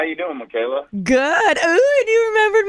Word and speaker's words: Mikala: And the way it's spelled, a lot of people can't figure out that it's Mikala. A lot of times they say like Mikala or something.